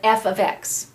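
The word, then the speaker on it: f(x): y out for an f ofx and this is pronounced F ofx okay it is not a multiplication symbol in the past we've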